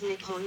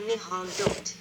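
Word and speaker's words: 日本: The name for Japan in Japanese is written using the kanji and is pronounced Nippon or Nihon.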